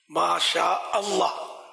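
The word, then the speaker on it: ما شاء الله: ہوتے ہیں بعض لوگ، یا ماشاء اللہ ماشاء اللہ نہیں ہے نا، ماشاء اللہ، ماشاء اللہ صحیح تلفظ تو یہ ہے نا، انشاء اللہ یہی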